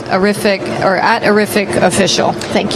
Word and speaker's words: Arifiq: Arific, which rhymes with terrific, is actually right next door to the Printerverse.